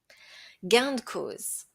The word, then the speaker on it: gain de cause: Gain de cause. Hein? Dans le langage courant, on va le prononcer gain de cause. Hein, le de, en fait, le e de s'entend vraiment pas.